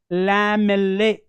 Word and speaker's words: lamellae: These round structures, round, concentric, round structures are called lamellae. L-A-M-E-L-L-A-E. Lamellae. You have to pronounce along with me.